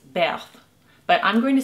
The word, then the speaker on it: Berthe: french impressionist painter and the way you say her name in french is beth but i'm going to say birth because i'm american and